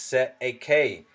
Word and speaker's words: cestui: Cestui Trust, pronounced Set a K, common term in New